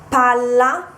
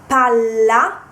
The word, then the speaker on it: palla: example will be uh Pala and Pala so if if you pronounce Pala so you emphasize the L because in Pala there is a Double